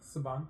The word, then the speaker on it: Saban: So it's pronounced Saban. Saban? Mm-hmm. Oh, is that right? Okay. I'm not even joking. It's pronounced Saban.